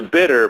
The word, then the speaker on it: bitte: close bitte bitte yeah so it's like it's bitter but it's like I'm English yeah yeah okay exactly it's bitter bitter bitter and house it's spelled bi tte bitter okay all right so there's not an R on the end of it no bitte it's like